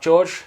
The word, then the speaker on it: Jorge: Right, hi guys, welcome to Watch Yourself Jorge, or Watch Yourself George. It's spelt Jorge. I go by George, but you can call me Jorge.